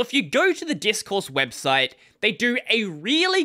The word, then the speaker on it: Discourse: They are running something known as discourse, not Discord, but expect me to mispronounce it at least once or twice.